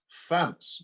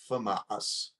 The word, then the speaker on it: FAMAS: how you say it it's famous not famas but we can't get